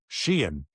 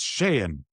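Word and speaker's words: Sheahan: played for us and Mike Babcock would always call him Shien cuz his nickname was she and I'd say to Mike, "It's Shayen."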